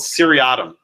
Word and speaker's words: seriatim: The old practice in English courts was to have something called seriatim. It's spelled, spelled S-E-R-I-A-T-I-M.